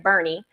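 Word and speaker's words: Boerne: let me make sure I'm saying it right Bernie um Texas and that was to raise awareness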